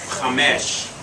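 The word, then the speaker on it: חמש: Chamesh. Accent on the last syllable.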